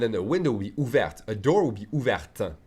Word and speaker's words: ouverte: Elle a la bouche ouverte. She has the mouth open. Elle a la bouche ouverte. I'm pronouncing the T because bouche is feminine, so I'm adding an E.